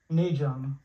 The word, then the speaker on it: Najum: n that's my name naum how do you pronounce it naum n yeah naum you got it yeah how